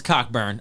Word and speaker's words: Cockburn: I'll be real with you, but it's Coburn. I thought it is spelled that way, but it's Coburn. I just never seen a CK, a hard CK, ever be pronounced silently.